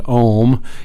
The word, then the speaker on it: Om: in this section so where there are three distinct sounds there's the a sound as an about which is like an aw there's an you sound such as an uber ooh and then as we finish up the room sound is like mmm so again Oh three